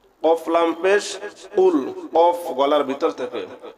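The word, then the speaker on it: قُلْ: কফ লাম পেশ কুল, কফ লাম পেশ কুল। কফ গলার ভিতর থেকে, কফ গলার ভিতর থেকে উচ্চারণ হবে।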